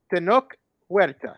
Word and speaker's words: Tenoch Huerta: Tenoch Huerta. Am I saying that right? Yeah.